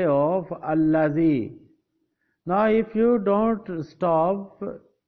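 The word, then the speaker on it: الَّذِي: again with ayah 4, you will have to pronounce zabar on the alif.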